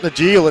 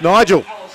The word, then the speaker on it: Nigel: We've got to tell the announcer it's not Najeel, it's Nigel.